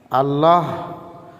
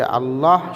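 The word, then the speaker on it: الله: আল্লাহ শব্দ পড়ার নিয়ম। আল্লাহ শব্দটা কিভাবে পড়িতে হয়? এটা খুব গুরুত্বপূর্ণ একটা ছবক। দুইটা ছবক আসবে যে আল্লাহ শব্দ পড়ার দুই নিয়ম।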